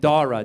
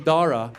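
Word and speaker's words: Dhara: But then she wanted to Indianize it, so she added a silent H after the D. So now it's spelled D-H-A-R-A.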